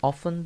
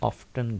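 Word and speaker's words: often: Third stanza है कि ऑफन the goal is nearer देन it seems. अच्छा, ये जो वर्ड है ऑफन, इसको ऑफ्टन भी पढ़ते हैं, दोनों इसके प्रोनाउंसिएशन करेक्ट है।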